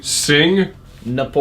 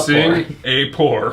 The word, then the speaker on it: Singapore: I thought there was an N in Singapore. Singapore. Singapore? It Wait, is- there is what's an the N. pronunciation? Singapore. I thought it was Singapore. It's SING. Sing Napore.